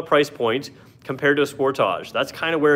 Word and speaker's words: Sportage: The Sportage, and I do say Sportage here because we are in Canada. I realize that not everybody else is, but in Canada, that's how you say it.